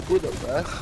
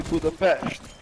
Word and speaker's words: Budapest: I realized that actually I don't need to say Budapest, it's actually Budapest. Like that's so like why would you actually translate the pronunciation of that, right?